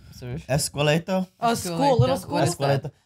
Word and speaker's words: esqueleto: I was pronouncing it wrong. Esqueleto.